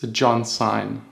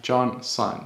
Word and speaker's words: John Sign: my name wrong so it's John sign not you and Xena or something like that John sign the John is for and sign like sign wave super easy now that